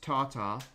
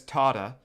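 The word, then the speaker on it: tartar: All I know about tatar is that it's pronounced tatar and Spongebob says tarta and he says oh tarter sauce as like a swear word that to to Spongebob that's the fbomb.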